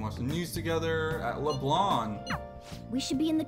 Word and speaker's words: Leblanc: I always think about it as LeBlanc, but when they pronounce it in the game, it's LeBlanc. You know, because it's French or whatever.